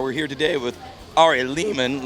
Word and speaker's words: Lehman: We're here today with Ari Lehman. Last name rhymes with demon.